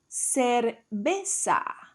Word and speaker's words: cerveza: Cerveza, cerveza.